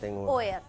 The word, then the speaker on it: OEAT: Y ellos son de la agrupación OEAD, así, no como se pronuncia en el inglés, OEAD.